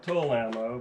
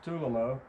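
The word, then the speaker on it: Tulammo: tulamo some people i used to call it tool ammo but it's actually pronounced tulimo ammo made in russia i've never had a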